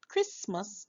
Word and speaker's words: Christmas: Remember, we have studied the word Christmas already. So, we remember that the C and H in this word, we are going to hear a C sound and it's going to be the K sound, right?